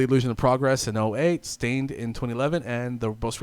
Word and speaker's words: Staind: we are talking about stained uh pronounced stained is an American rock